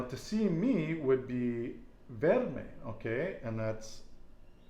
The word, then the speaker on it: verme: So M-E is pronounced May, like the month of May.